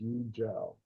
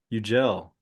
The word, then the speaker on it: Yucel: See, it's pronounced like a G. It's Yucel. Yucel.